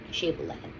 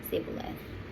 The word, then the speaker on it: Shibboleth: If he said no, then they would say to him, Shibboleth. And he would say, Sibboleth, for he could not pronounce it right.